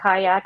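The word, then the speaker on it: Qajaq: there's another greenlandic beer called the kayak but they spell it q a j a k a q a j a q and that was another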